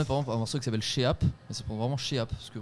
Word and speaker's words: Sheap: Non, mais par exemple, un morceau qui s'appelle Sheap, c'est vraiment Sheap, parce que vraiment on savait pas comment appeler le morceau. Sheap, du coup les gens prononcent sheep comme un mouton. Non, c'est Sheap, vraiment.